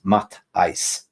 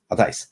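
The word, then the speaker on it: Matthijs: been on my case to pronounce the's first name it is mat ice Ma I MA ice so basically Mick is going for Ice tomorrow so it's ma ice it's so big up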